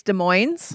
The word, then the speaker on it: Des Moines: It's Burien. It's Des Moines. Puyallup. It's not Puyallup.